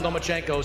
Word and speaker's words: Lomachenko: You are now the mandatory challenger for Vasiliy Lomachenko's 135-pound title. Do you believe at 20 years old, you're ready for that type of challenge? I think you said his name wrong. It's Lomachenko, because he doesn't want to fight me.